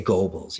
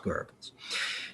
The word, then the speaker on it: Goebbels: was the propaganda minister of, people would say Goebbels. It's actually pronounced Goebbels.